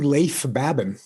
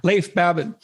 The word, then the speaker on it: Leif Babin: babin would i pronounce that right it's actually leif babin oh so i didn't pronounce it right at all leif babin he hosts a weekly podcast with brazilian jiu